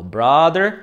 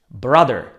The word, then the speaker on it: brother: sister brother son daughter tu vás hneď upozorním na častú chybu vo výslovnosti A to najmä pri slovách m a brother pozor nevyslovuje ich dlho ako mother alebo brother To je taká veľmi Častá chyba u začiatočníkov čiže pozor správne vyslovujeme obyčajné čisté krátke a a dostaneme mother mother a taktiež brother brother ale pozor father vyslovujeme